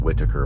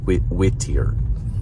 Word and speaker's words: Whittier: That's how they say it, not Whitaker, but Whittier.